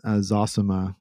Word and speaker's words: Zosima: just ran across where the elder zosima is that's how you say it he's giving advice to